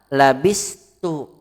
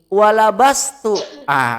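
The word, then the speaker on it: لبست: Dan labistu. Mana labistu? Memakai. Asan dari kata labisa. Hati-hati ya. Kalau mat bacanya begini, walabastu. Kalau labastu artinya aku ragu.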